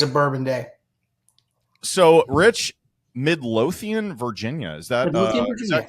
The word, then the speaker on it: Midlothian: every day is a bourbon day so rich Midlothian Virginia is that is that current did I pronounce that right y that is that is